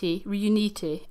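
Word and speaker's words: Riunite: Reuniti. Okay. That's how you pronounce that wine.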